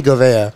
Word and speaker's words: Govea: It's Govea.